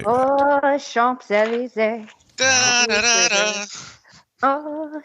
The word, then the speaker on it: Champs-Élysées: It does stand at the end of the impossible for me to pronounce Champs-Élysées. I don't know how to say that. Oh, Champs-Élysées.